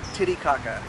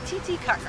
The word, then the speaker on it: Titicaca: Do not say it Titicaca. That's not how you say it. You say it Titicaca. That's the correct pronunciation.